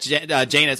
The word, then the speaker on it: Janus: So why don't we actually just discuss that answer in the context of the real world, in the context of that Janus, I believe it's pronounced Janus, the Janus case that was just ruled on at the Supreme Court.